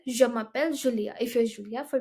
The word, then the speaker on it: je m'appelle: Okay, but in French, they're very particular about the pronunciation. So there are two reasons why there is apostrophe. First of all, the vowels clashing. E and A are vowels, so they're not gonna let them clash.